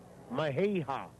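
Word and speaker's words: Mejía: double-a the other day henry mahay maheha is the way he pronounces it picked up a victory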